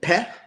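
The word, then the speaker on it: פ: The first phonetic family defined by the Sefer Yetzirah, which is the first letter Peh, is pronounced with the lips.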